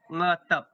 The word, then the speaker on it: ngetep: ngetep. Apa mantap? Ngetep. NGETEP. Oh, oh lentap. Okay. Okay. Okay. Kalau sebut pronounce dia, kamu mau pakai dia dalam sedikit.